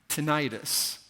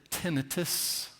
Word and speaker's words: tinnitus: It turns out both ways are pronounced correctly. In Britain, they say tinnitus, and in America, we say tinnitus, which means tinnitus is the correct way.